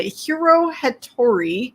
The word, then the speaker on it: Hiro Hattori: And she is the author of the Hiro Hattori. Did I pronounce him right?